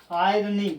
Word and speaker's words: irony: Wooden, golden, irony. Guys, point to be noted. Irony. It's not irony. R is silent.